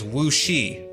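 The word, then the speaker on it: 武师: A similar term would be this, meaning martial arts master, and its pronunciation is wuxi, as in the Wu Shi Academy, the Masters of Martial Arts Academy.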